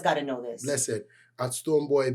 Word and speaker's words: Stonebwoy: boy is spelled the Jamaican way, you know, that has the attitude in it. So boy. So Stonebwyoy.